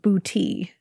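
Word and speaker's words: Boutte: of this place in Louisiana and it is pronounced bouti Louisiana um about 15 minutes from Kenner of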